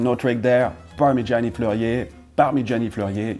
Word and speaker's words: Parmigiani: Parmigiani Fleurier, you pronounce the name just like the cheese, but of course, if you say it the Italian way, well, you do have to roll a little bit this R. Parmigiani.